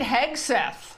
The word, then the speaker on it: Hegseth: That our own Pete Hegseth.